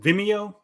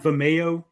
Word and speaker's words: Vimeo: rocker yeah yeah I guess oh also it's pronounced Vimeo not Vimeo sir oh um oh okay yeah yeah all